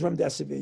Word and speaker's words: remdesivir: No, it is Remdesivir. You pronounced it absolutely correctly.